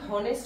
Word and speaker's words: honest: বসবে যেহেতু আমরা কি honest বলি না আমরা বলি honest আমরা কি বলি honest বলি তো honest বলছি এখানে H এর উচ্চারণ অ এর মতো আসছে কিসের মতো অ এর